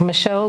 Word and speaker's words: Michelle: Michelle? Yes, that is very correct. It's not the shell that is missing, but it is definitely, that is my name, Michelle, the French one.